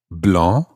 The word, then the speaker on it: blanc: and then the example where it does change the sound finally we had the example where an extra letter was added blah b-l-a-n-c blanche b-l-a-n-c-h-e so an libra